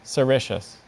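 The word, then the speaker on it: sericeous: fuzzy surface specifically covered with soft silky hairs pronunciation I see just the one cericious yeah the word assertion serratious can you say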